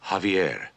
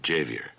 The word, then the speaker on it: Javier: Xavier beg pardon sir Javier not jayveer the the J is silent pronounced like a ha ha ha ba ha